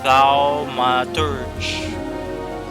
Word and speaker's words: Thaumaturge: Next is the Thaumaturge. How can you pronounce this? Thaumaturge.